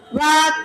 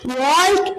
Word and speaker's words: walk: उच्चारयतु अति सरलः प्रश्नः अहं वदामि वाक् चाक् टाक् WALK वाल्क् एव किल उच्चारणसमये L इति अक्षरं न श्रुतमेव तत्तु सैलेण्ट् इति मम अध्यापिका पाठितवती सैलेण्ट्